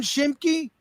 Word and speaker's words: Schimke: Schimke? Spot on. That's how you say it.